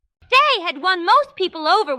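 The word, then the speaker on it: Dei: His name was De. That is spelled D E I. Day had won most people over when he was still a prince.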